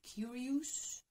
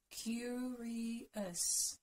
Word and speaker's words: curious: Again, don't say curious. Ooh, it's not ooh. Curious. Us.